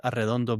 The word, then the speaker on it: Arredondo: Um and it's for Eddie's benefit and for the audience it's Arondo is the pronunciation.